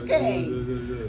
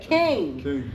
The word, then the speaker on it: KYNG: Yes, King. Yeah. I love that. King. King with a Y. I know, KYNG.